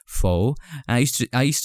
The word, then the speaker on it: faux: told that it's pronounced faux I used to I used to say Fox but it's not it's it's a French word I guess I'm not sure correct